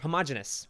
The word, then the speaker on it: homogeneous: Homogeneous? Is that the word? Where homogeneous? Oh, I was pronouncing it totally wrong.